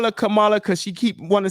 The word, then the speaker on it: Kamala: name would be Kamala she said Kamala cuz that's how you would pronounce it in the in in in the Indian culture right so so so